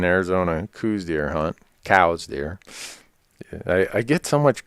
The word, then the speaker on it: Coues: world it's still called coos it's really pronounced cows so I'm gonna let